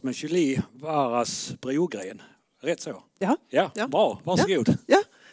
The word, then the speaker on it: Brogren: Jag vet inte riktigt hur ditt namn uttalas, men Julie Waras Brogren. Rätt så? Ja. Bra. Varsågod. Ja, tack så mycket. Ja, faktiskt mitt efternamn är ju svensk, så det var bra uttal, Brogren.